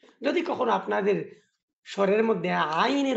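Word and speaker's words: عين: জানিয়ে দিই আপনাদেরকে আইন কোথায় থেকে উচ্চারণ হয়। হলকের মধ্যখান থেকে আইন এবং হা উচ্চারণ হয়।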